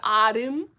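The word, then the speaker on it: 아름: Ramyeon is always more of an L, whereas like arum, my name arum, has more of an R because it is in the syllable block.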